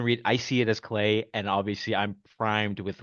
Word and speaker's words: Klai: again and say, "Okay, I see why it's pronounced clay."